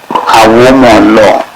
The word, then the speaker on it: Awomolo: Pronunciate, please. Respectfully, my lords, my name is Awomolo.